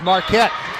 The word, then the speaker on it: Marquette: She doesn't spell her last name like Dwayne Wade's alma mater, the one in Wisconsin, Milwaukee, but it's pronounced Marquette.